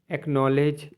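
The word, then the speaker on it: acknowledge: एन ओ डब्लू एल ई डी जी ई एक्नॉलेज मतलब स्वीकारना एस के बाद भी सी आता है तो आपका सी साइलेंट रहता है जैसे एस सी आई ई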